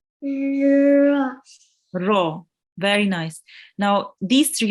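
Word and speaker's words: ر: Do you know why the ro here is in red? Because it's a thick letter. Very nice. So it's a thick letter, and we have to pronounce it with the mouth rounded. Ro.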